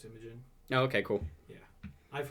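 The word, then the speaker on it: Imogen: Like I was just like, "Oh, we're just listening to Image and Heap again."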